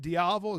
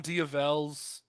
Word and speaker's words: Diavel: is it Diavel? Is that the correct? I call them Diavels. You could call it a Diavel. We put the emphasis on the wrong syllable.